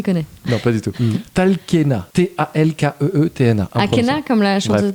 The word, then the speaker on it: Talkeetna: Comment La vraie prononciation, c'est Talenska. Talenska. Non, mais il le fait bien, Ouais, j'avoue. c'est taplon d'enculé. Peut-être qu'en fait, il connaît. Non, pas du tout. Talkeetna.